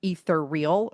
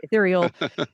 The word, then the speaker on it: Ethereal: ether like Ethernet and turn it into ether real. And that was how they would say it. And then of course those of us that knew how it was meant to be pronounced would say ethereal.